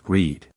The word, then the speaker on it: read: pronounced like the word read, that's the long e sound, the same vowel sound you hear in words like need, feed, or seed.